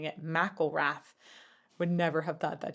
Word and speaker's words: McIlrath: by the way I looked up how to pronounce his name and and him is saying it mcelrath would never have thought that just from the